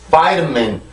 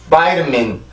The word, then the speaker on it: vitamin: 절대 비타민, 비타민 이 스펠링만 읽어서 비타민이 아니고요. 발음교를 정확히 보면 Vitamin, Vitamin, Vitamin 이렇게 해서 발음을 해줄 수가 있습니다.